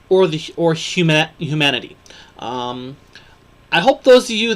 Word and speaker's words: Om: a look about the Hindu symbol om pronounced um okay it is comp composed of three sounds ah a u m and the symbols three-fold